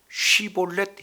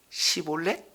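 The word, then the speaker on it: 쉽볼렛: 그러면 시볼렛 이렇게 한번 내보세요. 그랬더니 이 사람은 쉬볼렛 해보세요 했더니 시볼렛 이렇게 발음을 하게 되니까 그 현장에서 죽였습니다.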